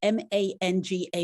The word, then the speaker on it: manga: working with teenagers and i don't know if it's a soft g or a hard g elliot so i'm going to let you say the m-a-n-g-a word and tell what you do with it please so so it's manga um so here at arbor